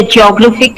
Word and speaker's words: geographic: has three syllables so when we have the words ending with ic we usually need to stress in the pen ultimate syllable that means the penultimate means the second last syllable right when we uh say for example here geographic and geology we need to stress on graph so here geo geography